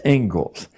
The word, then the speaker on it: Inglis: The Ingalls lecture. Looks like Inglis, but it's pronounced Ingalls.